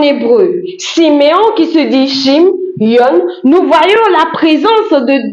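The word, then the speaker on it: שמעון: Si nous prenons en hébreu Siméon qui se dit Shim yon, nous voyons la présence de deux syllabes Shim et Yon.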